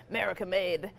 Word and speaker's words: Maricamade: Actually, I have to pronounce it properly. It's Maricamade.